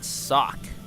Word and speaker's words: Socke: red Protoss, we've got Socke. I might be pronouncing his name wrong, but I'll just call him Socke from now on. I'm going to assume the E is silent.